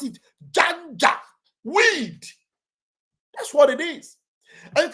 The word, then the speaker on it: Janjaweed: Just the way you pronounce it, Janjaweed.